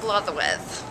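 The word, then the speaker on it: Blodeuwedd: It's pronounced Blatherwith. Blatherwith. Yes. So the D's are THs. Yes, yes.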